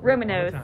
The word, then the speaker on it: Roman Nose: The way some people say Romanos, and then people in parks, we make it like it's one syllable. It's like, yes. Yep. Romanos. And then you're like, what's that word you keep saying? You gotta say two N's. It's got two N's in there.